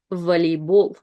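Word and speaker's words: волейбол: And again, first O is unstressed, so we read it as A, volleyball.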